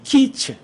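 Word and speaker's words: קץ: 키츠. 근데 끝이란 단어가 조금 짧아요. 키츠. 여름 끝이에요. 여름 끝. 발음이 같아요. 다만 여름은 약간 길게 발음하고 끝은 짧게 발음해요.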